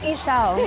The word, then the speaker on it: Ixchel: Will you say your name for me so I can pronounce the correct name? It's Ixchel. Ixchel.